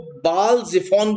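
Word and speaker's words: Baal-zephon: और यहां से ये पाई हायरौत की स्पेलिंग में बता दूं, PIHAHIROTH, पाई हायरौत। और इसको बाल जिफोन भी बोलते हैं।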